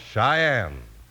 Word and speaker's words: Cheyenne: c h ye n n e and it's pronounced Cheyenne today Cheyenne's a name of a town in